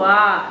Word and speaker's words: は: Partikel wa ini ditulis dengan menggunakan hiragana ha, namun dibacanya adalah wa. Nah, partikel wa ini mempunyai fungsi sebagai penunjuk dari satu subjek atau satu topik kalimat.